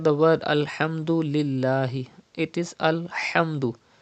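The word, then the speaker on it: الحمد: word alhamdulillah it is alhamdu pronounce from the middle part of your throat do not say alhamdu it's not alhamdu but it is alhamdu and then you have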